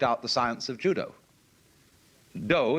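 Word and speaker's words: 道: Do is the way the Japanese pronounce Dao.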